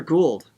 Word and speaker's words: Gould: Oh my goodness, is it Gould or Gould?